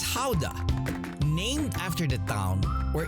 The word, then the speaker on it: Gouda: happening in full swing pronounces gouda or gouda in other parts of the world here the cheese is known as howda named after the town where it has been sold since 1395.